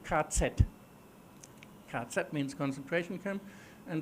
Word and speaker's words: KZ: The German abbreviation for concentration camp is this. We pronounce it KZ.